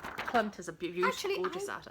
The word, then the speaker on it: Klimt: Dreaming of Clint, and that's not how you say it. Dreaming of Klimt. Klimt, thank you.